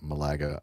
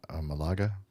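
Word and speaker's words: Málaga: the the city name Malaga Malaga pronounced Malaga see I keep wanting to do that I want to put the uh the emphas emphasis on the wrong salel um they safely landed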